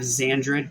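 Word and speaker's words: Xandred: start the day nylocks you have zandred played by Jeff zusterman I'm pretty sure the S is silent um xandroid is confusing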